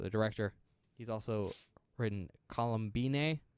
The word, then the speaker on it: Columbine: Dominique Othenin-Gerard, so the director, he's also written Columbine. That's how I'm going to pronounce that, and not Columbine, because it is Okay. not about that.